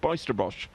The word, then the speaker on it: Bijsterbosch: directly with Marc Bijsterbosch, Bijsterbosch, earlier in the week, and the way I was pronouncing it, that Niels told me, is definitely correct.